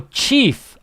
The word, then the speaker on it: chief: Listen to the pronunciation. Chef. Chief. Chef. Like chef. Chief. Like the CH is longer, like chef. But like an SH.